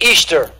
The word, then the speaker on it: Ishtar: This is Ishtar, pronounced Easter.